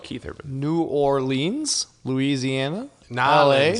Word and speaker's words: New Orleans: Narlins LA. is how they say it.